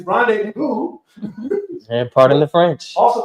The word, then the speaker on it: rendezvous: There's a Z in the middle of the word, and you don't pronounce the Z. It's Rendezvous.